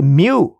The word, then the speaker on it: mu: is that how do you pronounce it you pronounce it as mu that's your population mean and by the way